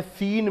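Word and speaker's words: scene: और इसी तरह से सीन में, सीन यानी दृश्य, विजुअलाइजेशन की जब हम बात करते हैं, दृश्य की बात करते हैं, तो ये सीन और यहाँ पर सी को जो है साइलेंट किया गया है।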